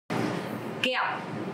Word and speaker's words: Kẹo: Kẹo. Candy. Kẹo. Okay, so this word has the tone mark zona. Because of that, you have to pronounce very strong.